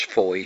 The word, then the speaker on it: Foy: If it is foy, that is spelled foy to rhyme with that to pronounce foy to rhyme with joy joy.